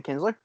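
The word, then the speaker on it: Kintzler: brandon nitzler oh brian kinsler that how do you pronounce that i think so is it k k-i-n-t-z-l-e-r kinsler yeah yeah uh brad boxberger and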